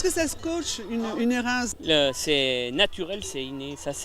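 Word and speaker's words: Hérens: Et dans le pays, attention à la prononciation. On dit bien Érin dans le Valais suisse, mais Érins en Chartreuse.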